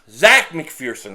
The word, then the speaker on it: Zach McPherson: And what was really interesting about the maintenance day for Slay is that Zach McPherson, I was told that he's not Zeke, he's Zach McPherson, so I'm saying it wrong, so I apologize.